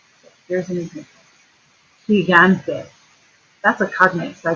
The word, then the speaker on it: gigante: Has an I, so it's pronounced the h. But look at this G here. This one has an A after it, so it's a g.